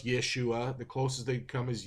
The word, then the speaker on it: Yeshua: short and formed it's Yeshua because in the Greek it's yesus because Greek people in their language they didn't have equivalents for the sh sound so they couldn't pronounce Yeshua the closest they come